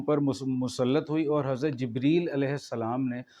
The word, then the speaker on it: جبریل: مسلط ہوئی۔ اور حضرت جبریل علیہ السلام نے، حضرت جبرائیل بھی آپ نے نہیں کہنا، اپنا تلفظ بھی ٹھیک کریں، حضرت جبریل علیہ السلام